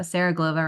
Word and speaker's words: Glova: Sarah Glova. So, I I hope so. My name rhymes with supernova.